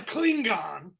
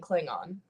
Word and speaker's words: Klingon: this rant is that you pronounced the G in Klingon Klingon yeah yeah how do